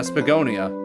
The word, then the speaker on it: Spagonia: Yeah, Spagonia. That's how you pronounce it.